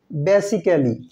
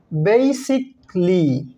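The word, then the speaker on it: basically: ওয়ার্ডটিকে আমরা বলে থাকি বেসিক্যালি নট বেসিক্যালি বেসিকলি এই ওয়ার্ডটিকে আমরা বলে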